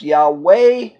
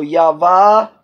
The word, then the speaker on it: Yahweh: was the one that brought back the name pronounced Yahweh but a more correct way for the pronunciation of the name is the third letters actually vivre I've ever bet so Yahveh when written is more correctly pronounced than Yahweh